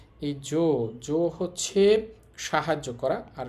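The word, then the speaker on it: 上手: হয়, বাট এটা ব্যতিক্রম, এখানে সু হবে না, এখানে হবে জু। হওয়ার কথা ছিল জসু, কিন্তু বলতে হবে বা উচ্চারণ হবে জজু।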